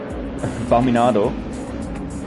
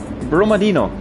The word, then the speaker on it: Brumadino: No, sorry, Brumadino. Okay, yeah. Yeah, Brumadino. Yeah, I know. I mean, he's Swiss, too. so I tried to pronounce it a bit more Swiss. Yeah, but apparently it's a Brazilian name I heard from him.